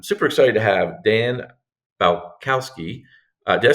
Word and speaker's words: Balcauski: come I am super excited to have Dan balowski did I say that right Dan you did